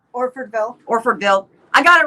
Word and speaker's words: Orfordville: that's a mouthful how do you say orfordville orford bill i got it right very well wisconsin and